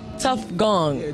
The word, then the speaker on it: Tofgone: my name is t gone can can you spell it for everybody t o f j o n e tough gong tough gong tough gong all right so you